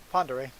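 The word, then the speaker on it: Pend Oreille: Yeah, but it's pronounced Prairie. So I think it is pronounced the way it is because um, it's a French name, and then with the Idaho accent, it's become Prairie.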